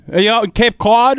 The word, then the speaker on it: Cape Cod: Are you out in Cape Cod right now, or where are we at? Yeah, you got to learn how to pronounce that. It's not Cape Cod. It's Cape Cod.